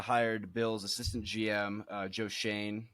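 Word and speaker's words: Joe Schoen: bill's assistant gm uh joe shane is how it's pronounced as i'm told uh and then uh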